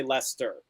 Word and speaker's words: Leicester: take my lumps here when i first became a supporter of the team back in the day i thought it would pronounce the chest i learned my lesson there the one thing it's just it's hard to overcome my accent i do still pronounce the r at the end of it i still say lester lester oh yeah i'm not from les i'm not from the midlands i so i say lester but like when i